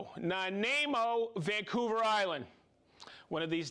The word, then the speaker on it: Nanaimo: We have Chris from okay, I used to know how to pronounce this. It's Nanaimo, Vancouver Island.